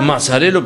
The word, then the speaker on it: Mazzarello: ¿Mazzarello está bien pronunciado? Mazzarello perfectamente.